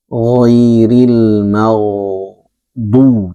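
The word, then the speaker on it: غَيْرِ الْمَغْضُوبِ: Kemudian ghairil mau dibacanya kohairil m'du atau giril ma'du. Ainnya tidak sempurna, ginnya tidak sempurna, maka kita harus berusaha menyempurnakan ghairil magu.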